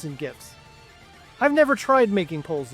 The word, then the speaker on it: GIF: poll in chat about GIFs and GIFs. I've never tried making polls in chat. Is it GIF or is it a GIF? Soft G. It's pronounced G-I-F. G-I-E-F. G-I-F because it's an acronym.